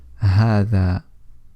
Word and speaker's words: هذا: Now even though it's spelled as ha dhal alif, it's pronounced as if there is an alif after the letter ha. So we say هذا, هذا, and we don't say هذا, shortening the ha.